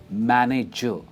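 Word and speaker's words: manager: मैनेजर, शायद आप इसे बोलते होंगे मैनेजर, पर इसकी सही प्रोनाउंसिएशन है मैनेजर। एंड में हम आर प्रोनाउंस नहीं करते, इट्स मैनेजर। और जो स्ट्रेस है वर्ड का वो MA पे आता है, जो लाइट ब्लू में हाईलाइटेड है।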